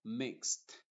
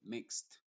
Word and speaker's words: mixed: boxer y lo mismo mixed la e es muda y la d se pronuncia como t mixed indexing relaxing boxen Entonces